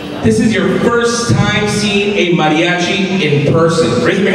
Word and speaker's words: mariachi: Mariachi Los everyone say Mariachi but make sure you say Mariachi very good you're saying it correctly now cuz some of you guys are marachi maachi no Mariachi Mar losos awesome now